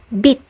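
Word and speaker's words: 빛: So if this basic consonant is pronounced as t as a final consonant, so will its aspirated counterpart, like in the word bit, which means light or glow.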